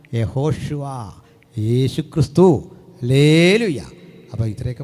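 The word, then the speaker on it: יהושע: പ്രശ്നം പേരെന്താ ജീസസ് പോട്ടെ അപ്പോ കൃത്യമായ ഉച്ചാരണം എങ്ങനാ യഹോഷുവ യേശുക്രിസ്തു ഹല്ലേല ഹല്ലേലൂയ അപ്പോ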